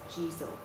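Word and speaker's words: Jizō: It's Sitigarba, or in Japanese, what I find easier to pronounce is Jizo.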